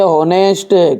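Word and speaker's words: honest: अपन पढ़ते हैं केट, इसे हम क्या पढ़ते हैं ऑनेस्ट, कि ऑनेस्ट, ऑनेस्ट पढ़ते हैं, ऑनेस्ट नहीं पढ़ता है।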